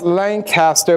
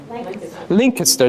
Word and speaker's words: Lancaster: don't know if you know that it's not pronounced Lancaster but it's pronounced Lincoln sir there you go it's Kurt pronounced Lincoln sir